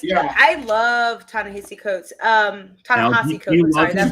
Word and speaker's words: Ta-Nehisi Coates: Ta-Nehisi Coates. Sorry, that's how you pronounce it.